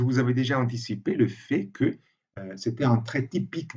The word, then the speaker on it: fait: D'habitude, on ne prononce pas le T dans fait, c'est un fait, mais dans l'expression en fait, oui, on le prononce.